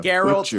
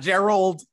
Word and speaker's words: Geralt: It explores the legend of, and I'm going to Geralt of Rivia. These names. It's Geralt, all right? Geralt of Rivia. Yes. It's not Geralt. Geralt of Rivia. Not Gerald. It's Geralt. Garrett. The hard G.